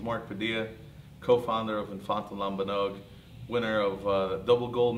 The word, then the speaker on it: lambanog: MMB films so uh infant lambanog pronounced lambanog was uh it's a brand